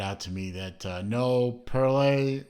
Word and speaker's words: Perrelet: from a watchmaker called perrolli I was pronouncing it very briefly parallel but then somebody pointed out to me that no parlez rhymes with of all things Chevrolet so parallel a Chevrolet